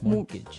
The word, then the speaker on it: mortgage: with a t yeah it has a t in it but you don't pronounce it you say mortgage morgage so not Mort mortgage